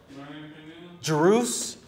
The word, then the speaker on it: Druze: Drews? Is that how you say it? Yeah, Drews.